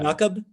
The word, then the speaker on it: Yaqub: yeah, you're Yaqub. Yeah. Jakub? Yeah. Yaqub. It's Yeah. like Jacob in Christian and Islamic. It's like Yaqub.